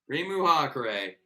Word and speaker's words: Reimu Hakurei: her last name is reimu hakurei primu hakurei believe is how that's pronounced yes this is a